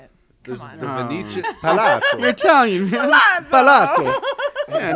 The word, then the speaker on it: Palazzo: We're staying at the Palazzo. Yeah, so that was really nice. So, and then that's not how you say it. Come on, the Venetian Palazzo.